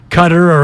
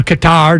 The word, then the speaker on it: Qatar: to host, and they were a patsy, and Qatar or Qatar, depending on how you want to pronounce it, they're going to get crushed by everyone.